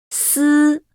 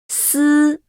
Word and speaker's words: 丝: When pronouncing, 丝 the front part of the tongue tip stays away from the inner surface of the upper teeth all along, leaving a gap for the airflow to get through.